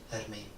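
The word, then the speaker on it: Germaine: Jermaine Durandamy she's like a 10-time kickboxing champion.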